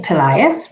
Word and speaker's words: Pelaez: I'm Pelaez, rhymes with the boy's name Elias, and I am the product manager at Skills Global.